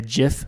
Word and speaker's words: GIF: yeah so he says the creator of the jiff format Steve Wilhite or maybe it's Willett I'm